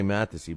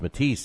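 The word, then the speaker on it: Matthysse: right i always say mathesy but my man john uh from ldl said uh no it's matisse damn it stop saying it math to see it looks like mathesy but it's pronounced matisse even though it's m-a-t-t-h-y-s-s-e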